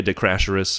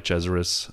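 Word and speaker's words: de Cesaris: amen Roman grosjeans Stefan Johansson Eddie cheever Andrea de crasheris I'm sorry chezaris mikasalo yonbera who I don't know Jan Pierre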